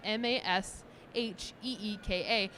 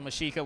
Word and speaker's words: Mexica: Because originally I had the character of Mexica as Masheeka, how it sounds. Because we're worried about... so Mashika will be in Mashika.